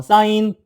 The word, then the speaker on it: sin: 사인은 2 안 쓰고 그냥 sin만 써. sin. 신 sin. 사인만 써. 근데 읽을 때는 어떻게 읽어? 사인이라 읽어. 코사인은 코스만 써.